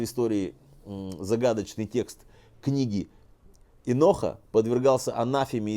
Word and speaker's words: Енох: Впервые понятие Алам Хаба встречается в так называемой книге Еноха, а именно в главе 71, в стихе под номером 15. Книга Еноха считается самым известным ветхозаветным апокрифом. Еще иногда произносится Энох через «э».